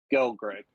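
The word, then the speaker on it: Gelgreg: uh David I have Grill Greg is that pronounced correctly go Greg g-e-l-g-r-e-g gal Greg go Greg okay uh four we've got you with Jana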